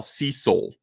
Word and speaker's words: Cecil: and I realized that I pronounce his name if you were to spell out his name that I when I say it phonetically it would be s EA C and then s o UL Cecil Cecil was like what